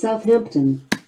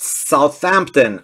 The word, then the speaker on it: Southampton: away against Southampton it's pronounced Southampton not Southampton Alexa 135 of 199 come on